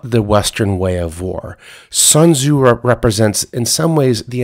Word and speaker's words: Sun Tzu: the art of war sun tzu is actually pronounced sunza and it means scholar son in ancient chinese